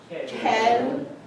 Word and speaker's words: quelle: Even though it's Halloween, there's still no T in it. Quelle, instead of la, you're going to say quelle.